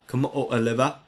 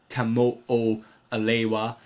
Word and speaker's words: Kamo'oalewa: Kamo'oalewa is this asteroid, or Kamo'oalewa, depending on how you want to pronounce it.